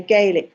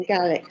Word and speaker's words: Gaelic: think the um poor actor was saying um you know Gaelic rather than gallic so that was a